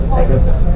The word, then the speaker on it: Pecos: So if you go, or actually, By the way, it's actually pronounced Pecos, but we all say Pecos.